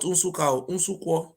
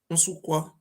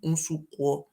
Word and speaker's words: Unsukwa: He was from a place called Unsukwa, not Unsuka, Unsukwa. I don't know how to pronounce it very well. Not Unsuka in Anambra State or Enugu State. This one from Unsukwa in very close to Agbo.